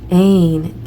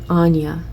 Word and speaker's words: Anya: Okay, and Ain, leap of faith. Or I think this is Anya. Anya is how it's pronounced.